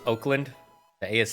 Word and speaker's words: Oakland: we're gonna go to oakland when it's pronounced oakland the a is silent it's spelled oakland but the a is silent oakland yeah uh 22 percent